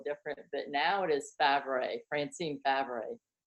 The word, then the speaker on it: Favret: If you Google me right now, it'll be like Francine everywhere, and that is spelled a little different. But now it is Favret, Francine Favret.